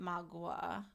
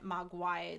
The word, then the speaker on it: mogwai: that's the mogwai, and I think they pronounce it magua in the shop, maybe, and then mogwai the rest.